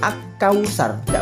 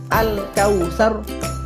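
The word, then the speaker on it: الكوثر: dibaca jelas dan terang al-kautsar itu tidak boleh kita membaca akau sharda boleh dirungokne toh nggak pantes nggak enak rasane mata kita sebut dengan alqamariah harus dibaca al-kautsar halnya dibaca jelas dan terang perbedaannya dengan asumsi ah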